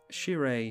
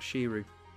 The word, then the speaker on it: Shirei: it a day there that was sheer a she's whose caretaker she's old caretaker not shiru must pronounce it correctly and Judith the scourge